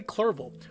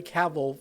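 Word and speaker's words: Clerval: to health by a friend of his Henry clerville who I kept mispronouncing as Henry Cavill for about six takes before this one Victor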